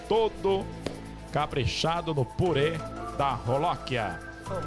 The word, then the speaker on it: Jolokia: caprichado no purê da Rolóquia. É o nome, olha lá, Jolóquia, só que pronuncia Rolóquia.